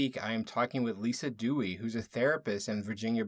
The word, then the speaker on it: Duez: I am Lisa Dewey my name is spelled d-u-e-z but it's uh pronounced Dewey it's a strange little